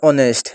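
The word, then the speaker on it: honest: ही इज़ ए होबो एन ऑनेस्ट जेतु एस टू माने उच्चारण न होय ऑनेस्ट उगत है कारण एन होबो दिया से फिल इन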